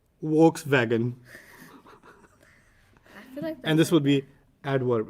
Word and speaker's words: Volkswagen: this car volkswagen no they pronounce the v as a w and the w as a wii so they say volkswagen and this would be